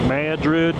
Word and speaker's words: Madrid: That's how the Texans say it. So I tend to go with what the locals call it, Madrid.